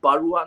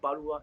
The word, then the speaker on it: Barua: It's called, Mention the correct pronunciation is Barua, not Barua. It's Barua, Barua.